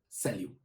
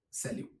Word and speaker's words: salut: And another word for hi in French is salut.